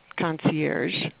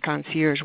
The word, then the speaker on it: concierge: most of us know this but our title concierge and by the way it is pronounced concierge one of my pet peeves is people calling